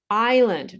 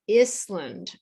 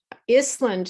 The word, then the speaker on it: island: two three silent letters island not island island sounds like the country uh iceland and it is an